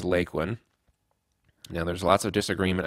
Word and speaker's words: Lakeland: school there circa 1910 she pronounced it as lakelyn well John your grandmother was correct it is lakelyn now there's lots of